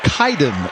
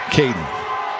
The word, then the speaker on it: Kaiden: lence on the tackle you saw two guys named Kaden k a i d n but they're pronounced differently Kaden wallworth is actually Kaiden wallworth and Kaden Riner is in fact pronounced Kaden that's probably just for you